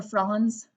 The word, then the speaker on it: Franz: neat project actually um so France or Franz pons is probably the correct way to say it Franz and Albert are